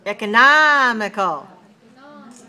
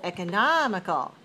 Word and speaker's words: economical: but we see that in terms of the stress it's different because for economy it's stressed on the second syllable but for economical it's dressed in the third syllable all right so what